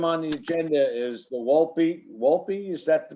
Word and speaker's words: Wolpe: next item on the agenda is the Wolpe, is that the pronunciation?